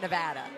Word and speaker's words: Nevada: I think we're looking at Colorado and uh we're looking at Nevada. Um, and you have to make sure you pronounce that right.